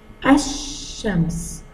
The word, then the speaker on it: الشمس: ان فيهم قال برضو، الا انا خدت الالف والحرف اللي بعد القال على طول، ما نطقتش القال. ليه؟ لان اللام القمريه تنطق لانها قويه، انما اللام الشمسيه عندي خجوله، بتبقى مكسوفه ما بتتنطقش، تكتب ولا تنطق.